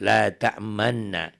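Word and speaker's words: لا تأمنا: La ta'manna. Bacanya sini la ta'man, asalnya la ta'manuna ya. La ta'manna, munyunyu gitu ya.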